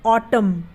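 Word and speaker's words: autumn: बोलते कॉलम तो यहां पर एन क्या है साइलेंट है उसी तरीके से ऑटम ए यू टी ओ एम एन क्वांटम अब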